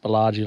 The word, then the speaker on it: Baladjie: So this morning we have woken up out at a spot called a Baladjie rock, pronounced Baladjie like the Baladjie Hotel.